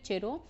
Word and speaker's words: chiro: ये गाइज इसकी प्रोनाउंसिएशन बहुत लोग चीयर को केयर भी बोलते हैं, किरो भी बोलते हैं, बट the actual pronunciation is चिरो.